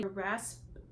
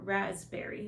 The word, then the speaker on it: raspberry: rasp r a p so do you say Rasberry or raspberry is the piece silent I would like to